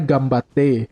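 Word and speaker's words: 頑張って: Di Ganbate kan tulisannya kan Ganbate, bacanya Gambate.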